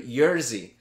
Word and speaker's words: Jerzy: Oh, no, not Yuri. Jerzy. So it's spelled like Jersey.